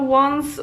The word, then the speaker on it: ą: is quite different, because I feel like the A with the thingy is more similar to O, because it's on.